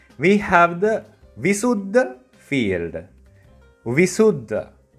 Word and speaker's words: Vissudha: Vissudha. Break it down, you can say it as Visuddha. Say it a little bit faster and it becomes Visuddha.